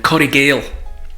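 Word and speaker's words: Coire Gabhail: And within Glencoe, there's Corriegale, which is not pronounced like it's spelled, but Corriegale means the hidden valley or the lost valley, and it's a work of nature.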